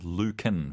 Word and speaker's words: Lucan: Luc is their ears or Lucan it's actually Lucan Valerius let me change the owner that's what